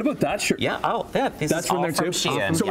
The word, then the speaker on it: Shein: Shein.